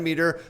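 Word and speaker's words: Metre: in the description below it's pronounced meter but you'd never spell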